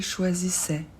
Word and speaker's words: choisissait: I fait toujours e le t il est muet il choisissait elle choisissait